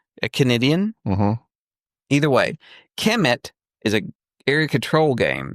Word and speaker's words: Kemet: Commit. It's pronounced commit according to Rodney. I think it's Kemet, but he says commit.